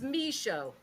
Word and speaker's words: Michaud: So can you pronounce your last name again for us? Yeah, it's Michaud.